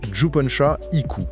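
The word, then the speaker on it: Jippensha Ikku: Et c'est un texte monumental qui a été écrit par Juponcha Iku, ce qui se prononce Juponcha Iku.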